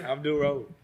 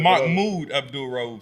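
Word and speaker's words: Mahmoud Abdul-Rauf: Abdul Rose. You said the name wrong, but I mean, No, that is his It's name. Muhammad Abdul Raif. No, Mahmoud Abdul Rauf, sir.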